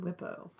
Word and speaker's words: WIPO: I always pronounce it WIPO, but I've heard WIPO, which I can't get into that.